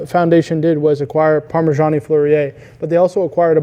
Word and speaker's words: Fleurier: Dial maker, quadrants, and habillage, I believe you pronounce it correctly, right? And they also have a movement maker, Vasseur manufacturer, Fleurier? Yeah, Fleurier.